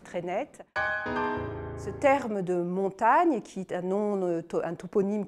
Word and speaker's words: Montaigne: les périgourdins et que le nom de montaigne lui-même qui est aussi le nom du domaine et du village s'est longtemps orthographié est surtout prononcée montagne est ce qu'on peut